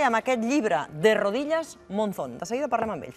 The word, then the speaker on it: Monzón: Bueno, aquí sería Monzó, pero es Monzón. De rodillas, Monzón. De rodillas, Monzón. Monzón.